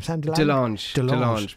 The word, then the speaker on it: de Lange: How do you say your name? Delange. But however you want. Where's that come from? It's imitation French. Okay. It's actually Dutch, but we make it sound more French in my family.